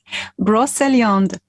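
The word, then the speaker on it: Brocéliande: of brosley undoc bruce i really wanted to pronounce this correctly can you help me again elena broseond bro thank you and after years of travels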